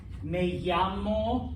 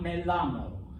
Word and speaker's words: me llamo: um fyi okay double l's sound like a y that is why me llamo senor not melamo senor okay um i know